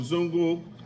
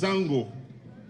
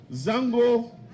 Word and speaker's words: Zango: refer today as zongos the actual pronunciation of zongo is Zango not zongo and if you do your research Zango it's a house away